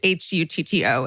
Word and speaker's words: Hutto: It's Hutto, and they wrote it phonetically for me, which I appreciate.